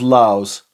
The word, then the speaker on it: LAVS: This is Filippo Sorcinelli's Laos. Apparently it's pronounced Laos, but it's spelled Lavs. Obviously the Latin VU thing going on.